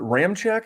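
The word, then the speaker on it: Ramczyk: of marcus davenport uh uh uh was it ram check is that their left tackle or right tackle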